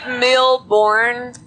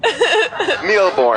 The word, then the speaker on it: Mille Bornes: Have you ever played Mille Bornes?